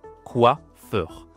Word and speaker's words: coiffeur: Alors en français on dit le coiffeur. Le coiffeur prononciation ici c'est wa donc oublie pas c'est quelque chose comme ça qu donc on a ici quoi quoi ok coiffeur au féminin.